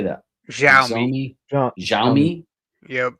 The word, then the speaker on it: Xiaomi: Xiaomi. Xiaomi. Yep. Xiaomi.